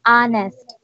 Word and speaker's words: honest: let's start again with honest honest honest hmm we don't say honest but honest silent H sound ah ah yeah oh